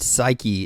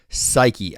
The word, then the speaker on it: Saiki: can read her name all day long but psyche is how you pronounce it I pretty sure he's done his research he's pronouncing this correctly psyche I will never forget that now I am